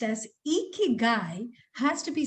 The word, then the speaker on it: ikigai: manner well going ahead this word which is pronounced as icky guy has to be said only with a smile